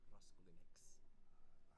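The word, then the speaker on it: Raskulinecz: I think his family is from Poland, so they would pronounce it differently. But as he's as American as anyone can be, he pronounces his name Raskulinex.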